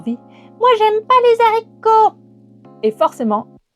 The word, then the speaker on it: haricot: C'est aussi le cas pour le fameux haricot. On ne dit pas les haricots, on doit dire les haricots.